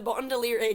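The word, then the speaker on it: Baudelaire: book is about the bondoliere children Get Shipwrecked on an island I love the idea of bondolier as in rhyming with Gondolier so many misspellings of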